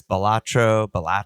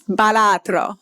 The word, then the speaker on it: Balatro: I don't know if I actually am saying it better now, but well, it evokes Italian to me, so I feel like it's Balatro. Balatro.